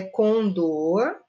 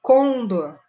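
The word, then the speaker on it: condor: tem nada a ver tá com dor olha com dor é uma área que da nossa américa latina que a gente falar com dor ocorrer mas tem gente que fala com dor o correto é com dor e o incorreto é com dor isso não pode tá bom casos de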